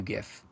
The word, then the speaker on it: Giff: We don't even know anything about Matthew Giff, other than it's pronounced GIF.